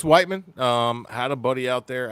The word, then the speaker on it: Whiteman: yeah, I thought it was Missouri? pronounced Whitman. Yeah, no, it's Whiteman.